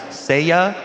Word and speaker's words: Seiya: So I just got an update from a very studious Twitter follower that said it's pronounced Seiya, and it's from a Japanese anime that was broadcast in Mexico a long time ago.